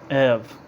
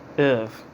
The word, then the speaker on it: oeuvre: Ev is how you say it. Ev.